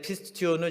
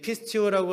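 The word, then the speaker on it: πιστεύω: 따라 볼까요 페리 파테오 앞전에 피스튜디오는 제가 발음이 별로 안 좋으니까 여러분들도 안 좋게 발음을 하셨는데 좀 더 정확하게 한글로 얘기하자면 어쨌든이 피스튜어라고 하는 헬로우가 밉다라는 단어인데 페리페테어라고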